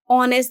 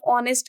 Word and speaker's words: honest: same thing is there honest the pronunciation of honest is beginning with o h is silent so this the pronunciation